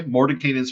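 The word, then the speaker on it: Mordenkainen: have an anime Moment cast fly fly morning Moran kanan's faithful Hound oh okay Mor kanan's faithful Hound good to know as you go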